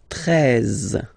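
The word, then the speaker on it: treize: Then now if you combine this E and E, you get the sound E, really open. 13, 13. Final E, as usual, not pronounced.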